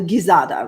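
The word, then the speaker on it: gizzada: g for giza okay it's probably gizada right like in girl right okay that's greater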